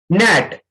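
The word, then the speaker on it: gnat: नेट. NAT नेट. तो इसमें हम जी को साइलेंट कर देंगे क्योंकि जी के बाद एन आया है.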